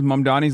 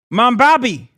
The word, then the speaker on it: Mamdani: I got stomach poisoning trying to take a shot every time someone says Mamdani's last name wrong. You mean Mamdani? Mambabi.